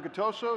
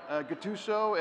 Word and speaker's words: Gattuso: Pete MacGillivray vice president of the show and and communications for SEMA and Guto so is that pronounced correctly yes Gattuso and you're kind of the operations guy that